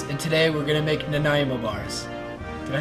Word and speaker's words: Nanaimo: This is Cooking with Canadians, and today we're gonna make Nanaimo bars.